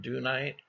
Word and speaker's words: dunite: We collect a rock here called dunite. Some people call it dunite. And I read somewhere that there's British pronunciation is dunite and American pronunciation is dunite. So whether that's true or not, I don't know.